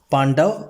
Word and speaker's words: पांडव: कुरुक्षेत्र में पांडव रहते थे। ऐसे तो ये पांडवास लिखा हुआ है और ये कुरुक्षेत्रा लिखा हुआ है, लेकिन हम इसे हिंदी वाले ही उच्चारण के साथ पढ़ेंगे, पांडव और कुरुक्षेत्र।